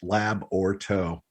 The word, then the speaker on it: Labyorteaux: easy for all those if you wonder it's three syllables lab or toe it's just the cinjun